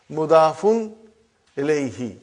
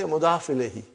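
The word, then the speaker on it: مضاف إليه: Mudafun ilayhi. But we say mudaf ilayhi.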